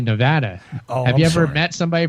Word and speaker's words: Nevada: Now, Chuck, you flew past something there that I'll absolutely scold you for because you pronounced Nevada as Nevada. You're supposed to say Nevada.